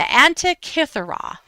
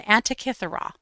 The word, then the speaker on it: Antikythera: But I'm going to look at my notes so that I pronounce it correctly. This is the. Sometimes my notes don't even help. The Antikythera. The Antikythera.